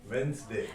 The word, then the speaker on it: Wednesday: No, it's Wednesday.